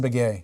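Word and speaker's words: Beghe: what you get from is it beggy am I pronouncing his last name right Jason beay Jason beay what you get from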